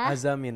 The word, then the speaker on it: Azzamine: sebenar Az atau pas aku baca kayak ini bacanya azamin atau azamain ya azamin sebenarnya jadi azamin itu Azam dan Jasmin Iya Oh tapi kalau